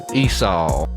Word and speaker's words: Esau: I want to see how do you pronounce it again? Is it Esau? Esau.